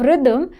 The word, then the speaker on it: rhythm: Next we have rhythm. The correct spelling is RHY. RHY. Again, H is silent. That's why people miss it.